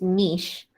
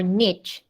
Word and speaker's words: niche: the smallest one is niche or niche depending on which pronunciation you want to use and the biggest one is biosphere n-i-c-h-e niche uh the the uk english pronunciation is niche the u.s english pronunciation